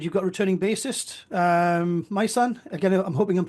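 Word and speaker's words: Majsan: got returning basist um my son again I'm hoping I'm pronouncing that correctly my son yeah it sounds like my son but it's m a j s a n my son yeah it's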